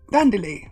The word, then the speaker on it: Dandeli: Hello, Dandeli. How you doing? Everyone gets it wrong, says Dandeli, but my name is pronounced Dandeli.